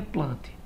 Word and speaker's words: Plantae: dois nomes um detalhe se escreve plantae porém se pronuncia plante tudo bem vamos adiante